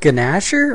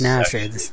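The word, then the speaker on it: Gnasher: Is it pronounced Ganasher or is it pronounced Nasher? Pronounced Nasher. Okay.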